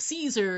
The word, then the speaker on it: Caesar: and don't know that the c ae of Caesar is pronounced with the soft c and not the hard c.